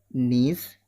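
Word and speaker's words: gneiss: नीस, जी silent है इसमें, नीश पहला मेटामॉर्फिक रॉक्स में।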